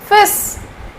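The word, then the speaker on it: fils: f i LS but L is silent here we cannot pronounce l here it's fish fish okay and what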